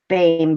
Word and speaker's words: Beam: My sister knows a girl named, and it's actually pronounced Bame, but when you say it, her name is Delight, and it's Delight. Really? It's spelled B-E-A-M.